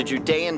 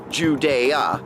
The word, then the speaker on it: Judea: hi I'm standing in the Judean Desert somewhere between the Dead Sea and Jerusalem